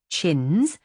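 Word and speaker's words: Champneys: Four years ago, Lord Edward Champnes, pronounced Chins, old bud's fifth son, had met her in Hollywood, and in a month they were married.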